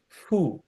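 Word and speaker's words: ふ: তো ব্যতিক্রমটা হচ্ছে উচ্চারণ হবে ফু, অর্থাৎ আমরা যেভাবে ফু দিই, হ্যাঁ, ফু, ফু। তো হা, হি, ফু, হু হবে না, এটা মনে রাখতে হবে, হ্যাঁ, হা, হি, ফু।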